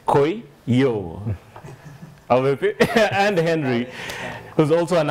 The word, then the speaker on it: Kuiyu: Yeah, that's the way you pronounce it, Kuiyu. The way he was telling me, you're supposed to say Kuiyu.